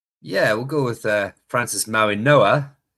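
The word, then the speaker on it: Francis Mauigoa: Maybe we we'll we'll start with uh uh Francis Maui Goa. Yeah, we'll go with uh Francis Maui Noah. The G is silent, but he's um a bit right.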